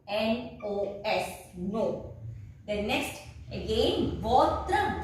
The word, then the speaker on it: votre: Then next again votre, V-O-T-R-E, that means your, masculine singular. This is feminine singular, votre, again it is vo.